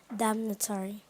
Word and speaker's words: damnatory: Damnatory. Am I pronouncing the word correctly?